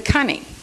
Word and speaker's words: coney: For instance, the word coney. Okay, actually, the pronunciation of a coney is a cunny. And a cunny is a bunny.